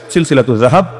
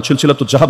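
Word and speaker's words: سلسلة الذهب: অংশ হিসেবেই লেখা আছে সিলসিলাতু জাহাব আপনার মতবাদ জাহাব না সিলসিলাতুজ জাহাব না এটা তো উচ্চারণটা শুদ্ধ করে করা যায় সিলসিলাতু জাহাব ফিমাহুল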